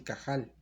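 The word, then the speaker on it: קהל: la palabra hebrea que se escribe cajal Así cajal es como la pronunciamos cajal Y esa palabra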